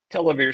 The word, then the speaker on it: Televere: Televere Systems.